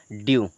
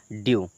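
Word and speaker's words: dew: लेकिन उन्हीं में से अगर ई के बाद में डब्लू आ जाता है तो इसका उच्चारण बदल जाता है देखिए अब य पर क्या लिखा डीई डब्लू इसको पढ़ेंगे ड्यू क्या पढ़ेंगे ड्यू छोटा ड सॉरी ड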